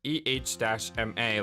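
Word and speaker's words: Ema: also told me that her name is actually pronounced EH-MA, like Emma.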